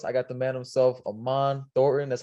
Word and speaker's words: Aman Thornton: I got the man himself, Aman Thornton.